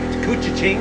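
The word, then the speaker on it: Couchiching: Lake uh coocha King I think cucha Ching is the way it's pronounced I believe uh heading up through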